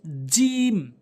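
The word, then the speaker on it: ج: এরপর হচ্ছে জিম। জিম, অর্থাৎ জিহ্বার মাঝখানের অংশটা উপরে তালুর সঙ্গে লাগাতে হবে। উপরে তালুতে লাগাবেন, তাহলে জিম সঠিক উচ্চারণ হবে।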